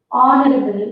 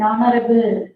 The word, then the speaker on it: honorable: that is science in honorable we don't say honorable but we say that h is silent here in honorable so when we write